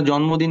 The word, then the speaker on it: জন্ম: ম ফলার উচ্চারণ হবে ম ফলের উচ্চারণ ম এর মত হবে যেমন আমরা জন্মদিন পালন করি জন্ম উন্মাদ